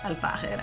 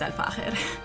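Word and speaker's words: Al Fakher: Yes, it's pronounced Al-Fahir. I've heard a bunch of different pronunciations over the years. It's Al-Fahir.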